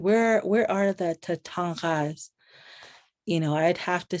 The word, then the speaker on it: Tatanka: And so I've just become obsessed with Tatanga, so my uncle would correct me and say, it's not Tatanka, it's Tatanga. Like, so I'm not even saying it right because it's more guttural.